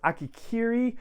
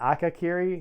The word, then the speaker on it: Akakiri: the duchess satine and i may have mispronounced that akakiri not akikiri akakiri and it's also a bit